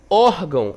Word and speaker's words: órgão: Órgão, a mesma coisa. Ó, por mais que tenha aqui, né, esse sinal gráfico til, mas a sílaba tônica mais forte é o OR. Ó, órgão.